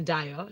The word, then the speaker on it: DYO: Point of correction, Dio. Dio. Yeah. Oh, okay. Thank you. So Dio comes with Papaya featuring Lord Africana. Listen. Why is it Dio and it's spelled DYO?